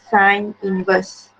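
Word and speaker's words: sin⁻¹: how you pronounce uh look like sine to the power of negative one but we pronounce it as sine inverse then you write zero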